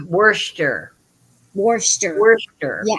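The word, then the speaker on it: Worcester: warer I always say Worchester it's Worster Worster Worster yeah I always say it wrong Worster I did for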